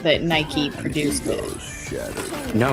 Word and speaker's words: Nike: I don't I'm never quite sure how to pronounce it. It's Nike. It's named after the goddess of victory, which is pronounced in the British fashion as Nike.